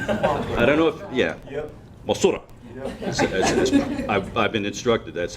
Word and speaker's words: Mothra: Well, the movie was Mothra, and I don't know if, yeah, Mothra. I've been instructed that's how it's supposed to be pronounced.